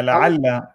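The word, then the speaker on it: لعلّ: He said, perhaps, and the Arabic word is la'al. Is that how you pronounce it? Yeah, la'alla.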